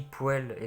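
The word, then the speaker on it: poêle: tout sourire allez une poële d'onet jeudi pour elle parce que ça s'écrit poil et ça se dit poile mais jamais aucun sens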